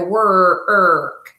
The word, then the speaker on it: work: work I go to work and like I said it sounds like an ER inside of it but it's spelled Oh R so this is a